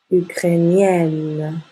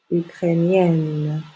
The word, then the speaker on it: ukrainienne: catalan je suis catalane ensuite pour les adjectifs qui on masculin se terminant I e n prononce y ukrainien le I e n devient I e deè e et encore une fois on ouvre la bouche ukrainienne ukrainienne je suis